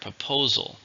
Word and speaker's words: proposal: many syllables to hear proposal three syllables stresses in the second proposal she made a